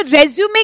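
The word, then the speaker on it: résumé: So never get confused, do नॉट यूज the word रिज्यूम writing, it's रेज्यूमे writing.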